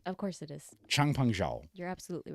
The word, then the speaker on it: Changpeng Zhao: I'm talking about Changpeng Zhao. I think that's actually how you pronounce his name. Of course it is. Changpeng Zhao.